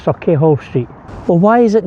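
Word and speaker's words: Sauchiehall: Sir, it's pronounced Saki Hall Street.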